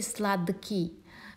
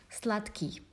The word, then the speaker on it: сладкий: You see, d is voiced consonant and k is voiceless, but we cannot say сладкий because k will influence d. That's why instead of d we will pronounce t, сладкий.